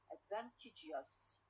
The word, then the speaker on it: advantageous: we have for example the first one advantage advantage advantage the stress on the second syllable al advantage when i add us okay advantageous advantageous so here we have we move the stress from the second to the third one for example or when